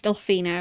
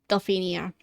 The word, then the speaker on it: Delphinia: Ask Delphina about it. Or Delphinia. Always forget to pronounce the I at the ending of that name.